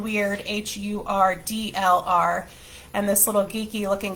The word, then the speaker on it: Hurdlr: go over the general things that I used Hurdlr for to track.